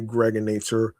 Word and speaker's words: Gregonator: I'm your man, aka the Gregonator, rhymes with now or later and now and later, like the candy.